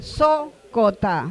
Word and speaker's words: Sócota: Sócota. La segunda sílaba es abierta. Por lo tanto, se acentúa la primera. Sócota.